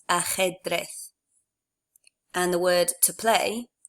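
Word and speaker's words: ajedrez: remember that for J the letter J in Spanish is always pronounced I suppose a little bit like an H in English it's from your throat sort of like so the word for chess is pronounced a head breath and the word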